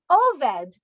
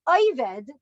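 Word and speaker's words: עובד: and the hasidic world an oved or pronounced in the yiddish fight in avid is a most illustrious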